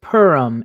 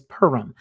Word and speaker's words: Purim: i'm sorry sir um purim is another way that people will notice that word so he pronounced it absolutely correct but some of us have heard it as purim so if you guys are